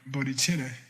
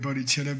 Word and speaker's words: bodhicitta: You don't spell bodhicitta with a C. It's cha, it's ch, duh.